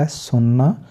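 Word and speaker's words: hasten: लिसन का मतलब होता है सुनना, LISEN लिसन, क्योंकि टी हमने साइलेंट कर दिया। इसके बाद है हैसन, जल्दी करना, हेस्टी जो होता है हेसन।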